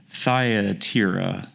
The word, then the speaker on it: Thyatira: So the next that we're going to visit is Thyatira. Hopefully pronounced that correctly.